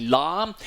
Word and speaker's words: Lam: Cyclone alarm um from the Vietnamese uh pronunciation it's spelled l so a lot of people saying lamb but it's actually lamb um lamb is expected to run into arnam